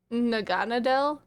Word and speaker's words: Naganadel: I think you pronounce it Naganadel.